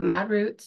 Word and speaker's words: Modrutz: And she has a company called ModRütz. Did I pronounce that correctly? Yep, ModRütz.